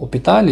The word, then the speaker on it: hôpital: Donc le mot hôpital, il s'écrit par un H muet, mais il ne se prononce pas.